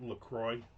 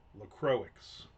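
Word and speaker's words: LaCroix: First thing I learned after moving to Florida, everybody pronounces Lacroy wrong. Didn't we figure this out? Didn't we go and figure out what the how the company wants you to pronounce it? And it was not LCroy. It's not like the place in like Wisconsin or wherever it is. Lacroics. Lacroics.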